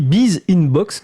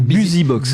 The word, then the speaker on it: BusyBox: Et la personne dit Biz Inbox. Donc, non, c'est pas ça, c'est BusyBox.